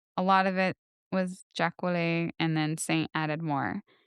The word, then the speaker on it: Jacolliot: Uh From what I saw, Jacolliot's influence on Saint spell that? Jacolliot Jacolliot Uh J A C O L L I O T, but it's French.